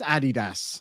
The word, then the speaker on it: Adidas: very nice indeed uh it is pronounced Adidas uh regardless of what anybody says Jack Lee Moon says